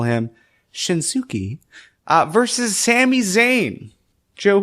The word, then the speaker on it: Shinsuke: from Japan to NXT you need to have a u in your name that is not pronounced yeah right like the